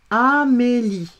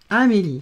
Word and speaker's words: Amélie: Et le E ne se prononce pas.